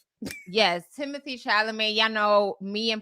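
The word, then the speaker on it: Chalamet: Yes, Timothy Shalamé. Y'all know me and pronunciation don't go well together.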